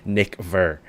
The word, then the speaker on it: Nickver: I'm like, all right, every time I have to say your alias, I have to like really pronounce it like Nickver with a V.